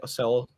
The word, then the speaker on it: Seoul: I didn't pronounce it right. No, he got it. He definitely did not. Okay. It's Seoul.